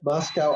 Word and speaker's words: Moscow: Moscow, Idaho is pronounced to rhyme, the locals say, with Costco to make it might sound like Moscow, Russia.